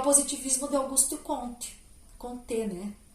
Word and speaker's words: Comte: Comte, né? A pronúncia é Comte, porque ele era um francês.